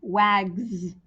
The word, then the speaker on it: wags: taps you hear this but what about the word wags wags that ends in an s but it has the z sound it has the z sound at the end but it's an s it's an action word with an s it sounds like it has a z but it's not and then we went